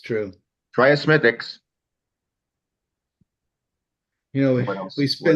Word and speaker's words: Smithwick's: Irish will have, it's spelled Smithwick's, but they pronounce it Smithwick's.